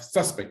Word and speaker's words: suspect: Yes, you have suspect.